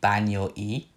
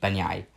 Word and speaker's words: Banyai: pronunciation, it would be Banyoi. The last two vowels would not be connected as one.